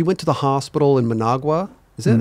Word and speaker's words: Managua: You had mentioned before when your mom, she went to the hospital in Managua. Is that how you say it? Yeah, sorry. Managua.